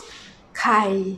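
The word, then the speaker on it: ใคร: In Thai we pronounce ใ ค ร . Actually with an R sound, but Thai people have a problem about roaring the tongue, so we pronounce ใ ค ร without an R sound, a speaking language.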